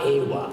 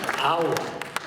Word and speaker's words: agua: It's not agua. It's agua. Agua. The G is silent. Oh. Agua. Do you speak a foreign language? No, but that sounds like awa from Okay. Anyway. Agua. Not awa.